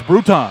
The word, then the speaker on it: Bruton: the press box and said, Mr. Ball, it's Bruton.